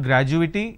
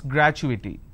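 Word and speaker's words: gratuity: confirmation technology accrual graduity it's not graduating it's graduity all right so when you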